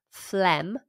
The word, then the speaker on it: phlegm: Also, phlegm has got a really unusual spelling. If I'm correct, it's spelled P-H-L-E-G-M, F-L-E-G-M, when really it should just be spelt F-L-E-M.